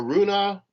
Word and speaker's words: Rune: Either Garin wasn't feeling it today, or this Holger Rune there's a Runa. Yeah, Rune. No, it's Rune.